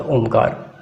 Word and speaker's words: ओम: तो ऐसे भ्रामरी के बाद ओमकार 3 से 5 बार या 10 बार, जितना देर समय दें आपके लिए फ़ायदेमंद होगा। तो ओम का उच्चारण, ओम में 3 अक्षर होता है, अ, उ, म।